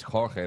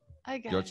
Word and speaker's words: Jorge: Now, I'm sure that's not how you pronounce your name, but you can let me know how you pronounce it, all right? That's okay. I mean, it's Jorge, but I know it's hard to pronounce for some people, so George is okay.